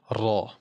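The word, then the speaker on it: ر: The other part of the tongue is going to stick up towards the pallet here. and the sound is going to come out from the center. So that is the pronunciation of raw.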